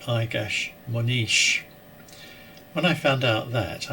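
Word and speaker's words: Egas Moniz: a toupee that I always thought was called Igas Monitz, but I later discovered is properly pronounced more like Igas Monish.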